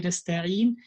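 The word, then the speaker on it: نستعين: When we say nasta'in, we have to pronounce full ya.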